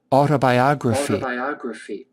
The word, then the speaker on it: autobiography: Accent is on the second, fourth syllable.